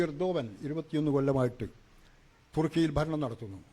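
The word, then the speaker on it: Erdoğan: ഈ റസീബ് തയ്യിബ് ഉർദുഗാൻ ഉർദുഗാൻ എന്നാണ് മലയാളത്തിൽ പലരും എഴുതുന്നത് അദ്ദേഹത്തിൻറെ പേര് ഇംഗ്ലീഷിൽ എർഡോഗൻ എന്ന് എഴുതും യഥാർത്ഥ ഉച്ചാരണം എന്നാണ് ഈ എർദോവൻ 21 കൊല്ലമായിട്ട് തുർക്കിയിൽ ഭരണം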